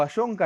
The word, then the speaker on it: Allonca: antes que nada, ¿pronuncié bien tu apellido? Ayonca, ¿está bien? Sí, sí, sí, sí, está bien, está perfecto.